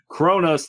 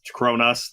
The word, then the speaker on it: Cronus: sick of people confusing cronus the titan with chronos the god of time it doesn't help the fact that they're both pronounced the same way no yeah well technically